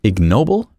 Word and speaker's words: ignoble: Ignoble G. There it is. That's a hard G there.